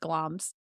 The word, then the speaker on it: Glamis: Gloms or glamis castle. I always say it wrong. I think it's pronounced gloms.